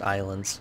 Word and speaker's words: Ylands: that even though there's a why it's it's pronounced islands so yeah I have been doing some grinding